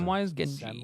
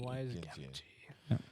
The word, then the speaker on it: Samwise Gamgee: Samwise Gamgee. Samwise Gamgee.